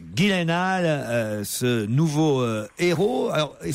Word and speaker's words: Gyllenhaal: Jake Ghislaine halle car il faut prononcer Ghislaine et non pas dylanal comme je l'ai fait hier ou avant-hier Jack Gyllenhaal ce nouveau héros alors